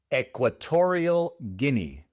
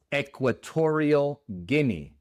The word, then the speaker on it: Equatorial Guinea: La Guinea Ecuatorial en inglés se pronuncia Equatorial Guinea. Equatorial Guinea.